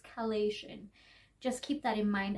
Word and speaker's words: Chalazion: But the name is not Chalazion, it is Chalazion. I got that wrong, that is my mistake. I just think my brain just thought Chalazion, but it's Chalazion.